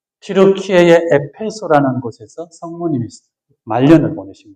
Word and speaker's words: 튀르키예: 그래서 이 튀르키예, 지금 우리가 이제 터키를 안 하고 튀르키예 그 본토 발음을 따라가는데 이 튀르키예의 유럽 쪽 땅, 삼각형으로 톡 튀어나온 여기 이게 크라키아 지방이라고 합니다.